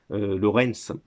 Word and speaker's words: Lawrence: j'aime bien martin lawrence lawrence on prononce à l'américaine qui a joué dans